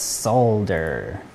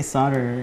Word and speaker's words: solder: it's awesome excellent it's solder man i say solder and then people told me that l is silent and then i said